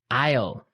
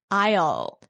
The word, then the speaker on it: aisle: Aisle. Aisle. A-I-S-L-E. Aisle. Aisle. It's a tricky word. It sounds like the contraction of I will.